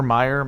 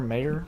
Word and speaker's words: Mayer: Michael Mayer Meyer mayor I think it's mayor I have him as my number two area of expertise well it's not spelled like my name so yeah it's m-a-e-r m-a or m-a-year like John Mayer yes uh so I've